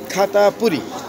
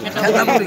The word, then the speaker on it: খেতাপুরি: ঢাকার ঐতিহ্যবাহী পুরাতন ঢাকার খাতাপুরি খাতাপুরি নাকি খেতাপুরি খেতাপুরি খেতাপুরি উচ্চারণ হবে খেতাপুরি ছ্যাকাপুরি কয় কেউ খেতাপুরি